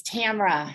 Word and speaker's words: Tamara: Actually, it's Tamara. Oh, sorry, Tamara. You can call me Tam. I get 3 different pronunciations.